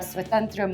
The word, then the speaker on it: Svatantra: have Swatantra Microfin. Can you tell us about That is right. it? Kudos to getting the pronunciation correct.